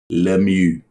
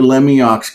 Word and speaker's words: Lemieux: Mario Lemieux. Yeah. Or if you say Mario's name in Pittsburghese, it's hey, that Mario Lemieux guy's awesome, isn't he?